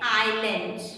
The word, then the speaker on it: island: Okay, that is an island. Okay, it is an island. Some students have pronounced Ireland.